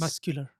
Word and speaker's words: muscular: In muscular, it's Muscular. muscular. It's SK, yes.